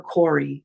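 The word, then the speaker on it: Kári: And so basically, and that's for Kori, which is spelled Kari with a little accent over it.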